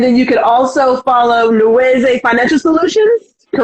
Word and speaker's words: Nweze: Is it Nweze? Nweze? Nweze, yeah, you got it. You got it. Nweze.